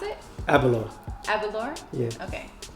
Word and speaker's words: Aberlour: How do you pronounce it? Aberlour.